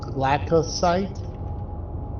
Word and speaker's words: Glacosite: Glacosite. Spell it.